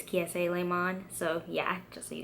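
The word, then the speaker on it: Kiese Laymon: butchered his name but the proper way to say it is kee si le monde so yeah just so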